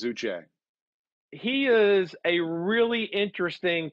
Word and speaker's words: Uche: you say it O'Shea it's I think it's a hard CH I think it's Uche he is a really